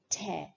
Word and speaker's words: tear: Whereas the word, when it is used as a verb, it's tear, tear, not tear, but tear, to rip apart.